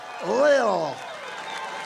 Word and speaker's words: Lil: Lil Pump, L-I-L, Lil. I said, how do you pronounce that? They said Lil.